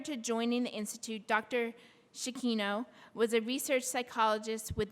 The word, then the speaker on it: Cicchino: So I'd like to introduce our first speaker for the day, Jessica Cicchino. And Jessica, did I pronounce that right? Cicchino.